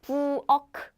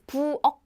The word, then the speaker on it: 부엌: Again, it's not 부엌. It's 부엌.